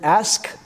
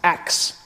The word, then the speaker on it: ask: decided to start saying pronouncing the word ask acts acts this may be standard